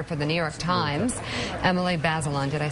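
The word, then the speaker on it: Emily Bazelon: and contributing writer for the New York Times Emily basilon did I say it right then yeah thank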